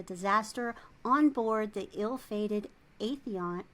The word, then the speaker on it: Aethon: survival following the disaster on board the ill-fated Aethon, how do you pronounce that? Aethon, which is a manned solar research probe sent to explore temporal distortions around the sun.